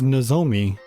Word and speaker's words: Nozomi: They've been saying it with the emphasis on the second syllable.